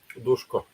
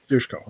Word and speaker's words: Duško: No, because the letter S actually has a small V on top of it Oh, in okay.